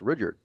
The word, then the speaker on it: Rudyard: Right, and I'm pretty sure it's pronounced Rudyard. You just changed it again. No, it's been saying the same way the whole time. Okay. Rudyard Kipling.